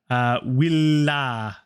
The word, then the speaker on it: villa: And willa to get that pronounced correctly. Lots of L's. Don't be afraid to make it unnaturally long sounding. Unnatural for me, yes, but not in Latin.